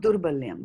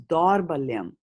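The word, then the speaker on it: दौर्बल्यम्: So it is not Durbalyam, right? No. Because if it was Durbalyam, then there would be no A after the D there, right? Uh-huh. See, there is a A there, so then it becomes Dorbalyam. Dorbalyam.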